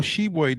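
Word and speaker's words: Tshiebwe: with kentucky forward oscar hebwe which is not spelled like it sounds all shebway did was set a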